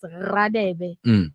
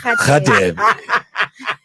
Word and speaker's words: Radebe: And then they have this thing of saying if someone's surname is Radebe, it's Radebe. Yeah. I'm not lying to you guys. Like in Sotho, R is usually pronounced as.